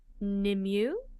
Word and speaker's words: Nimue: It's pronounced Nimue.